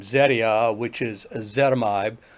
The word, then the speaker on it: ezetimibe: name Zetia, which is ezetimibe, I like to call it ezetimibe because Yes. that's how it's spelled.